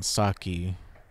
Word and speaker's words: Saki: the end this spring if it's two syllables it's on the first one Saki if that happens she'll